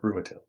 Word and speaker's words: Ruatil: sort of sense of Ruatil. Is that how you say it? Yes, that is how you say it. Ruatil.